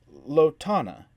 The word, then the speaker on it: Lana: I'm a Lana, she said, the accent firmly on the second syllable.